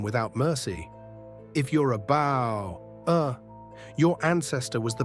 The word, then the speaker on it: Bauer: Not Bohr, the English way. In German, it's Bauer. Rhymes with power.